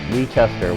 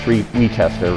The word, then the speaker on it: Wieschorster: junior a hockey power forward number 37 retester welcome thank you for having me it's pronounced rechester right correct yeah i have to apologize to